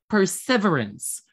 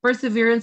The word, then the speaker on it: perseverance: Perseverance. Sir, some people tend to pronounce it as perseverance. It's totally fine for you to pronounce perseverance, but the most accurate pronunciation of that one is perseverance, okay?